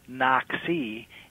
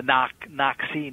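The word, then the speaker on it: Naxi: Another interesting feature of the tribe is that their name, Nak-Si, it's a complicated name. Sometimes it's pronounced N-A-X-I, or sometimes it's N-A-K-H-I. And it's like there's this complex suffix on the end of it that nobody's quite sure what to do with.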